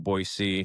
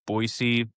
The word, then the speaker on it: Boise: Uh I live in Caldwell, which is like 30 minutes away from Boisee.